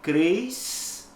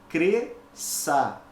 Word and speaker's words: cresça: de sem dente compreendeu ocorre algo semelhante na palavra cresça olha que a base eu não posso pronunciar cresça isso é errado eu tenho duas letras mas apenas um som então eu pronuncio corretamente cresça a mesma coisa então